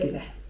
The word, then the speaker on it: güle güle: güle güle (czyt. güle güle) A teraz zwrot, którym często Turcy rozpoczynają rozmowę.